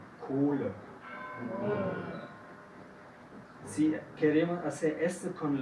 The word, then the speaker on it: Kohle: Entonces, si después de un vocal viene una H, dentro de la sílaba, entonces tiene la función de hacer largo este vocal. Y no se escucha la H.